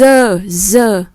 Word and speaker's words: œuf: buồn cười vì nó số ít là nó đọc là œuf và số nhiều thì nó đọc là rất là ngoại lệ, chúng ta cẩn thận.